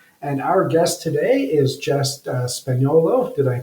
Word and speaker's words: Jess Spagnolo: Kent Street West and Our Guest today is justess spolo did I pronounce that correctly yes you did awesome I